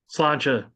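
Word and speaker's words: Sláinte: Also in Baltimore, there's the Charm City Blues as well, with the Slaint Irish Pub. I believe is how you say it. Yeah, but Slancha.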